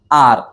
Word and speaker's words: our: सुरू करूया लक्षात घ्या खूप सारे लोक याला आवर आवर असं म्हणतात हे चुकीच प्रन्सिएशन आहे प्रोनन्सिएशन काय आहे करेक्ट आर ओके आर एखाद्याला अस सांगायच